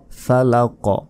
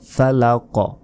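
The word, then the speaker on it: الفلق: বলতে হবে বি রব্বিল ফালাক ফালাক শেষে কফ রয়েছে এখানে কলকলা হবে কলকলা মানে ধাক্কা দিয়ে পড়তে হবে বা প্রতিধ্বনির মত একটা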